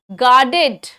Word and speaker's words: guarded: अच्छा, इसमें आर जो है ना, उसका बहुत स्लो साउंड लीजिएगा. आर ज्यादातर ऐसे मामलों में साइलेंट हो जाता है, ठीक है? सो गार्डेड. गार्डेड. आर की आवाज हल्की सी आती है. गार्डेड.